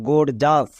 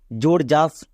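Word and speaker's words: gorgeous: তাহলে পুরোটা কি দাঁড়ালো গোড়জাস গোড়জাস এই শব্দটি খুবই ব্যবহার হয় কিন্তু অনেকে আছে এর বানান ভুল করে যেমন উচ্চারণ করে জোরজাস বা গোগিয়াস এরকম কিন্তু এর একচুয়ালি উচ্চারণ হবে গড় জাস যতই বড় ওয়ার্ড হোক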